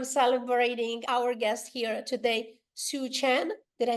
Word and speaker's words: Soochen: I'm celebrating our guest here today, Soochen. Did I say it right? Absolutely. Yes. Soochen.